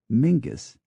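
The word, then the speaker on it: Menzies: l l is yal m n z i s is Mingus they find particular pleasure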